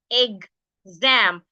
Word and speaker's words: exam: stressing the first syllable what we are stressing is the second syllable is the am we're stressing EG Zam so because of this